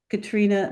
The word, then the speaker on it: Catriona: yeah and it's by katr which is spelled catriona just for your fun Katrina mcferson m c p